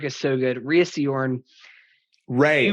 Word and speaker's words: Rhea: I think it's just Ray. Oh, just Ray Seehorn? Yeah, Ray Seehorn. Yeah. I've just been saying her name wrong for forever, so excuse me, Ray. It's spelled weird, so.